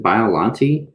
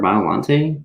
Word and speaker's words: Biollante: pronounced his name properly is it biolante or violante some like that right i think it's biollante okay that's what i